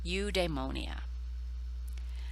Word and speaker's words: eudaimonia: then translated it into a form we can pronounce on the right you demonia now your translator is w.d ross and terence